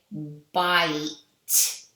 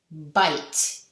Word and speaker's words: bite: And now the I is going to say its name I. So it's going to say bite, bite.